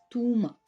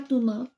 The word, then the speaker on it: Touma: Et l'autre c'est Touma. Pas Thomas. Enfin, ça peut se prononcer Thomas, mais c'est Touma. Il y a une différence.